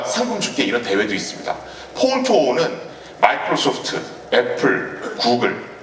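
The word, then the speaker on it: Pwn2Own: 이 친구가 어떤 일을 저질렀냐면 여기 PWN to OWN 이렇게 돼 있죠. 이걸 Phone to Own이라고 읽습니다.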